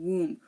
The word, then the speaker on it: womb: have the limb num suum thumb tomb and womb we don't say Lim or num or suum